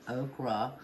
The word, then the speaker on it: okra: some fried okri and I know the correct pronunciation is okra uh but we've always called it Oaky so that's what we're